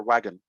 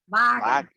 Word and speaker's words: Volkswagen: Volkswagen or wagon? Sorry, How do you say the car brand? BMW. No, Wagon. Volkswagen? Wagon? Wagen.